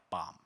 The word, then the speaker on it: BOM: of materials or B otherwise pronounced like bomb so you can read the bomb via thebomb files which